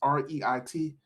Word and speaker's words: REIT: about is what are REITs so this is Reit it's pronounced Reit and Reit is a real estate